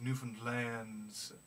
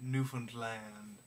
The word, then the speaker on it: Newfoundland: as well as uh trying to rhyme it with understand understand newfoundland that's a